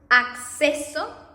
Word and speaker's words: acceso: And in double C, you are going to pronounce this double C in Spanish as you pronounce the X in Spanish, in English. So if you have, for example, words as acceso, you know, like X, access, acceso, accidente, abducción, so just